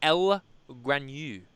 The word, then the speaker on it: L-Granu: are smoking the Ligero, and if I don't pronounce it right, call me out. I don't give a shit. The El Granu.